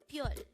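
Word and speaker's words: 별: Again, it's pyeol. This is pronounced as one syllable word.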